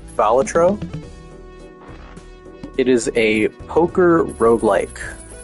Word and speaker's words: Balatro: I am playing, fuck, I just went over how it's pronounced. It's Balatro.